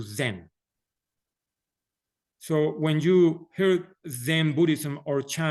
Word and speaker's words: Zen: were taken to China the word Diana became Chan when the Chan teachings were taken to Japan the pronunciation was changed to Zen so when you hear